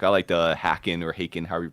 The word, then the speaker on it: Haken: Like I was into like some like Prague rock and stuff like I liked Hackin or Haken, however you pronounce it. Haken.